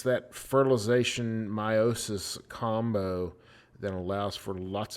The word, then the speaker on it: meiosis: I'm going to pronounce it meiosis in this class. Some people call it meiosis. Whatever sounds weird, meiosis.